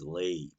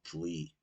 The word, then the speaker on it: Leigh: anyway lewood uh laywood the correct English pronunciation is lay by the way not Lee uh he uh recaptured